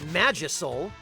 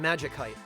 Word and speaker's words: Magicite: you pronounce it magical so it seems to me that the pronunciation of m a g i c i t would correctly preserve the pronunciation of the original root word magic so that's why I pronounce it Magik height but unfortunately decoy yeah